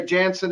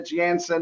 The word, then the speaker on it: Janssen: and johnson janssen vaccine we say jansen in the states but a jansen is the correct pronunciation i'm told from those